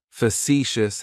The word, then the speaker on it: facetious: Facetious has 3 syllables, and the stress is on that second syllable. It's like you're just saying the letter C for see. That first syllable has that schwa, that sound.